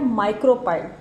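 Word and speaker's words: micropyle: माइक्रोपाइल, इसकी जो pronunciation है वो है माइक्रोपाइल।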